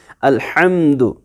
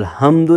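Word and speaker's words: الحمد: जैसे आप पढ़ते हैं अल्हम्दु, अल्हम्दु, अब हम्दु नहीं पढ़ना, उसकी मीनिंग बिल्कुल उल्टा हो जाती है।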